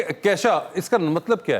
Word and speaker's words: Kesha: केशा। केशा, आई am sorry, हमने शुरू में कीशा कर दिया, केशा।